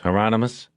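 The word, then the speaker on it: Hieronymus: He looked at Bosch through the camera and said, "Remember the promise, Heronomous? Rhymes with anonymous," Bosch said.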